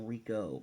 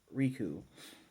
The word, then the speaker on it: Riku: battle between them uh riku which in japanese is pronouncing wreak or sometimes some people call rico but riku he notices that the spell